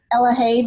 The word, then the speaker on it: Elahab: Did I pronounce it correctly? Elahab, long A.